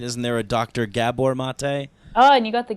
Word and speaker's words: Maté: for pronunciation and in Hungarian the emphasis is always on the first syllable of a word uh and the A's have accents over them properly so Gabor mate uh is my father-in-law